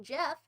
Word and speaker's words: Geoff: My friend spells Geoff but pronounces it like Jeff.